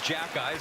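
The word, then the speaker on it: Xhekaj: one of the tougher ones but it is jack guys how you pronounce his last name you have to get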